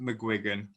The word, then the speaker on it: McGuigan: it's a northern irish catholic surname and it's pronounced mcguigan um although dialects may vary i mean my